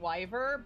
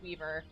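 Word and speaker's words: Wivre: And I was pronouncing it wyvern, but it's weaver.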